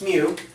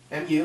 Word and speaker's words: mu: when you write it it's not U it's mu and you can tell that because it's got this little tail here mu mu is how it's pronounced